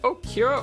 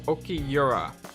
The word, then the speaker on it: Okiura: Is it Okira or Okiyura? I have a feeling I'm saying it wrong, because they keep saying Okiyura.